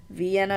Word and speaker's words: Vienna: 1,000 North Carolina rather Vienna is pronounced with a long I for some reason oh that's interesting but